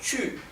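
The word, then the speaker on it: 去: no se tocan bueno Comencemos con el verbo chu que ya lo habíamos visto Sí ya lo habíamos se lo había enseñado antes el verbo chu es ir si recuerdan la primer clase de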